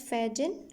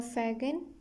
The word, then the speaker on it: Fagin: Fagin, you people can pronounce it as Fagin or Fagin, both ways.